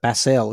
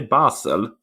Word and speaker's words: Basel: I think we pronounce it Basel. Is that the name of the city? I say Basel.